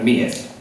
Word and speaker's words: mies: Oh wow, that's really good pronunciation. It's nainen and mies.